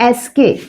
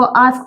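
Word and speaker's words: ask: कैसे यूज़ करते ए एस के मोस्टली लोग इसको आस्क प्रोनाउंस करते हैं but this is एस्क this is एस्क स से पहले लाइट आउट एसम अब हम दोनों को कंपेयर करके देखेंगे।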